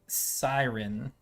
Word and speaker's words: Cyrin: custom race that i've got set up the siren uh yes that's how it's pronounced because i named it and that's how